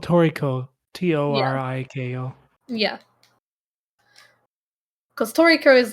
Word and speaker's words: Toriko: know it's also yeah it's also spelled toriko t-o-r-i-k-o yeah cause toriko is like the proper japanese like pronunciation and it's also like a play on